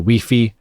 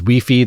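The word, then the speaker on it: Wi-Fi: Cleverly, Push pronounces Weii the way many European countries do, including France, where the album was recorded, playing into International Flights.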